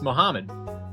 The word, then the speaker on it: Muhammad: How do you pronounce that? It's Muhammad.